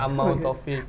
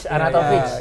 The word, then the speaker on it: Arnautovic: Oh, dia Amau itu R sama N-nya M dia. Amautovic. Oh iya, aku bacanya M. Amautovic. Arnautovic.